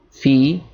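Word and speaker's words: في: If it's a kasra that comes before, it's going to be fi, or it's going to be pronounced with ya.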